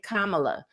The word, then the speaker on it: Kamala: But once I learned how to say it, once her nieces said, like a period, but comma, and then la, I'm like, okay, Kamala.